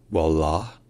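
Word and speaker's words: والله: notables qu'on va étudier la première c'est la prononciation en arabe classique littéraire qui est wallah wall et ensuite c'est la prononation courante qui est wall wall alors il y a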